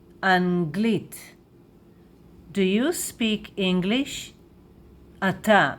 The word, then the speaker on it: אנגלית: And in Hebrew we say Anglit, Anglit, Anglit, Anglit.